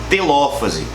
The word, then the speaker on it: telófase: Só para esclarecer um negócio legal, todas essas palavras elas possuem um acento, tá? Prófase, metáfase, anáfase e telófase. Então, cuidado na hora de você pronunciar isso, porque a gente tem muito aluno que fala metafase, interfase, profase, tá bom? Tem um acento aí, beleza?